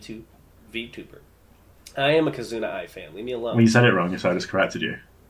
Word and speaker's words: Kizuna AI: 2D illustrations or 3D CG characters, proposed by Kizna AI in December 2016. The term is sometimes abbreviated to VTuber. I am a Kizuna Ai fan.